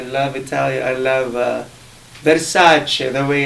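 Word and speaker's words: Versace: oh yes I love Italian I love uh verace the way it's supposed to be pronounced and DOL gabana and all those big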